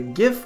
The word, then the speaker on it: GIF: soft G is a gif or Jif maybe that should be the one hard G or soft G I know that it's a hard G gift but ice age if